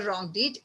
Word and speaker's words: wrong: In wrong deed, W is silent. Second alphabet is R. R is consonant. So we put a before wrong deed, a wrong deed.